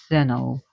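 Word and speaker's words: Stheno: I can the way the Greeks would have pronounced it, Uriali, wandering one, and Zeno, mighty one.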